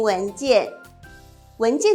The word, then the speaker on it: 文件: 華語說 “ 雞 ” 的發音，文件，但是呢，客語會說 “k” 的發音，文件，文件。